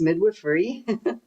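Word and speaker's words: midwifery: So, and that so that's how you pronounce it. It's midwifrey.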